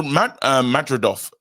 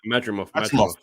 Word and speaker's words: Madrimov: And that's because of the Madridov. I can't say, I'm getting his name wrong. Madrimov.